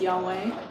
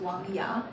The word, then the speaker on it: Wang Ya: Well, my name, like the English pronunciation of my Chinese name is Yahweh, but if you pronounce it like properly, it's Wang Ya.